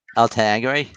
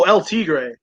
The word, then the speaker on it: El Tigre: El El Tagre, Wait, repeat that. You weren't like clear the El first time. El, El Tagre, the L Adventures of Minnie Rivera. oh L Tigre. Okay. Okay, I wasn't pronouncing it right.